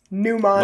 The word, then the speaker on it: mnemonic: Pretend there's the problem is you always visualize the M at the beginning. Well, no. Get rid of it.